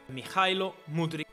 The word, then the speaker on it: Mykhailo Mudryk: Mikhailo Mudryk.